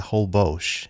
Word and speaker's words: Holbox: And that restaurant is a Holbox. And that will be the official pronunciation of this restaurant.